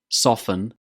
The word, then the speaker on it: soften: Words that end in FTEN or STEN. do we pronounce the t sound in these words too? Well, no, you can't. Here are some examples. Listen, fasten, soften, christen. Did you hear a t sound in these words?